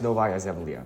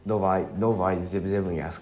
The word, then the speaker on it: Novaya Zemlya: And then for Novaya Zemlya, it's pronounced Novaya Zemlya, not Novaya Zemlyask, or whatever you pronounced it.